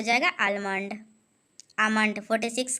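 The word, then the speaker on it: Almond: आमंड 4। इल silent इसको आमंड पढ़ते हैं।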